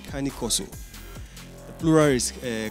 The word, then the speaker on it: Cane Corso: beat for us okay they they they name kane corso it's actually pronounced kanikoso the plural is a carnicosi and they descend